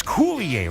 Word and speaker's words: Coulier: Now, Dave, I've got a problem because he told me, Baby Huey, how do you say his last name? Coulier. It's Coulier, right? Yes.